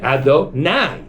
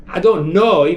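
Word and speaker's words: אֲדֹנָי: Sephardim say ado, nai. Now, that is blasphemy because ado, nai means my masters in the plural. Ado, noi means my master. Nai means my masters. So if you say it like that, it's really wrong.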